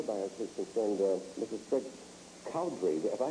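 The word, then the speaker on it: Cowdrey: Cowdery, if I pronounce that correct, Colorado?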